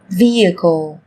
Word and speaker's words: vehicle: Trong tiếng Anh cũng có một số từ mà cách viết chúng ta thấy xuất hiện chữ cái h, nhưng khi phát âm thì chúng ta lại không cần phải phát âm này, người ta còn gọi là âm h câm.